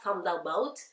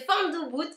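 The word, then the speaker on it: fanm doubout: o u B O U t ça se prononce pas F about c'est F doubout comme je le rappelle donc F debout ça veut dire c'est une expression créole qui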